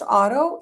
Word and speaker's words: Oto: Even though it's pronounced auto, it looks like odo.